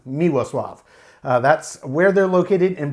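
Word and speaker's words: Miłosław: is a Polish Brewer they are based in miwo Suave that's spelled m-i-l-o-s-l-a-w it looks like a Milos slaw in English and polish it is pronounced miwa Suave miwa Suave that's where they're located in Poland and this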